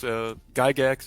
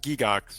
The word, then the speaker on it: Gygax: It's Gygax is correct. Perfect. It's a Swiss name, so in Switzerland it's pronounced Gygax. Gygax, yeah. But the Americans say Gygax.